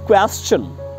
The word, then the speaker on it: question: Want to tell you, अगर आपको किसी वर्ड में STION लगा दिखे, STION, TION से पहले S लगा दिखे, तो वहां पर शन का प्रोनाउंसिएशन चन हो जाता है।